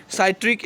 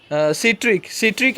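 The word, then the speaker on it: citric: है जिसका नाम है साइट्रिक acid, सिट्रिक acid, sorry, इसमें साइट्रिक होना चाहिए, मैं अंग्रेजी वाला याद है मुझे प्रोनाउंस, तो साइट्रिक को सिट्रिक बोला गया है हिंदी में, वही साइट्रिक एसिड पाया जाता है।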